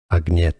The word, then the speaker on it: Ag: I'm hearing it wrong not like in Swedish AGA a so you do want to pronounce the G Ag and you would think